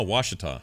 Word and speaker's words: Ouachita: he's from West Monroe he says it's pronounced Ouachita Oh wash it off okay wash it off